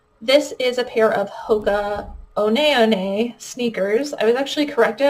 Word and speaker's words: Hoka One One: This is a pair of Hoka One One sneakers. I was actually corrected. I thought this was pronounced Hoka 11, but I guess the company actually pronounces it Hoka One One, which kind of feels